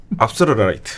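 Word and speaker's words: Afsluitdijk: 큰 방조제가 건설 돼요네 압솔루트 방조제 아고 이것도 발음이 이제 현지 발음이랑 좀 다릅니다 네네 우리나라에서 현지 발음을 한번 해 주시죠 압스 라이트 아 이거 조 조금 다릅니다 제가 네덜란드를 잘 못해서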